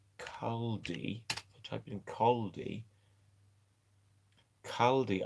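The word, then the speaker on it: Caldey: Do you don't mean Caldi?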